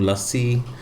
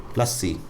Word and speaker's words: lassi: This is one of the most mispronounced words in Hindi that I have heard is, oh yeah, let's get a mango lassi. It's it's not a lassi, it's a lassi.